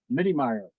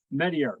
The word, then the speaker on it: Meteyer: So great, Meteyer. Meteyer. Meteyer.